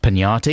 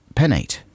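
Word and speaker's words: Peñate: tonight's today and uh i believe it's pronounced pinata even though i don't see the squiggly worm on the top of the end here because otherwise it would be pennate right and that doesn't seem right this is adam and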